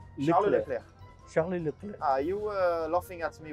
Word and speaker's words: Charles Leclerc: This one is Charles Leclerc. Exactly. How do you say your name? Charles Leclerc.